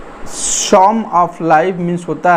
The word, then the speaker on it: Psalm: वैसे में the song of life means होता है जीवन का भजन, जीवन से संबंधित जो धार्मिक गीत होता है उससे भी लिया जाएगा। सॉन्ग में पी साइलेंट होता है, सॉन्ग की स्पेलिंग PSALM